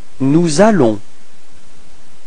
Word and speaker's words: nous allons: Nous allons. So you can notice the liaison between S and A.